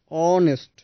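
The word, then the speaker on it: honest: উচ্চারণের সময় খেয়াল করবেন এখানে এইচ সাইলেন্ট থাকছে। আমরা উচ্চারণ শুরু করছি অ থেকে, অনেস্ট এবং আওয়ার।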